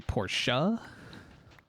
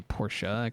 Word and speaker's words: Porsche: tedious Pro process but a Porsche said like porch I have never heard of Porsche called porch I've heard people say Porsche and I say por but have never heard